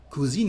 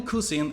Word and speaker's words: cousin: To translate a male cousin in French, the word is and the pronunciation is cousin, cousin. So pay attention to not pronounce all the ends of words in French, to not be confused between masculine and feminine gender.